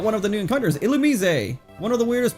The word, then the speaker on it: Illumise: All right, we got one of the new encounters, Illumise. One of the weirdest pronunciations of of a Pokemon name. It looks like it should be Ilamise. It's Illumise apparently, which like why is it Illumise?